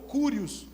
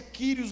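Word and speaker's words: Kyrios: ou cúrios. A gente lê cúrios, mas pronuncia kiros no grego.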